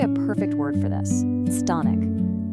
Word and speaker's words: chthonic: There's actually a perfect word for this: chthonic. It's pronounced thonic.